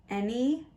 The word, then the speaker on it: any: And we know that the Y at the end here makes it a long E sound. So the word is any. So let's read any. And this syllable right here is stressed. So this syllable right here, the first syllable is stressed. And it changed from a to e. A to e. We call this a schwa.